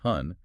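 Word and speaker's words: 婚: If you look at the Chinese character for marriage, which is pronounced hun, you don't just see a word, you see an argument.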